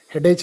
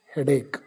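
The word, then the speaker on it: headache: pronunciation ಬೇರೆ ಇರುತ್ತೆ ನಾವು ಸಾಕಷ್ಟು ಕಡೆಗಳಲ್ಲಿ ನೋಡಿದೀವಿ ಹೆಡೇಕ್ ಅಂತಕಂತ ವರ್ಡ್ ಅನ್ನ ಹೆಡೇಚ್ ಅಂತ ಉಚ್ಚಾರ ಮಾಡ್ತಕಂತದ್ದು ಯಾಕೆಂದ್ರೆ ಇಟ್ ಎಂಡ್ಸ್ ವಿಥ್ ಎಸಿಎಚ್ ಅದನ್ನ ನಾವು ವರ್ಡ್ ಟು ವರ್ಡ್ ಪ್ರೊನೌನ್ಸಿ ನೋಡಿದಾಗ ಅದು ಹೆಡೇಚ್ ಅಂತ ಆಗುತ್ತೆ ಬಟ್ the actual ಪ್ರೊನೌನ್ಸಿಷನ್ ಇಸ್ ಹೆಡೇಕ್ ಇನ್ನು ಕೆಲವೊಂದು ಸಾರಿ ಕೆಲವು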